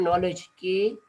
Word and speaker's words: knowledge: Let's say there's a word knowledge, KNOWLEDGE, knowledge. Now you see, we don't pronounce this K. It is in only in spelling system.